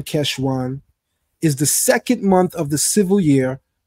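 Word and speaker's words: חשוון: The standard Tiberian pronunciation, Keshvan, is the second month of the civil year, which starts on the first of Tishri.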